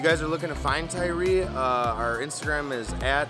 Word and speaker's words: Tyri: our own name out there the name is pronounced tyree i know it's a little confusing but it's tyree and that's how we pronounce it um hopefully